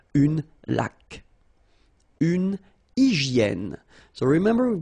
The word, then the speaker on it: laque: Remember the rule when you get this QU, well, U is not pronounced, so you get k like that. Une laque.